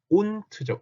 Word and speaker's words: und: 끝에 오는 d는 t 소리가 난다. 그래서 und가 아니고 어떻게 발음한다? unt죠.